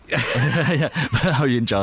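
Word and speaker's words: Huo Yuanjia: Ho Yen Jia, yeah. In Cantonese, his name was Phuk Yin Gap. Ho Yen Jia is the generally accepted name.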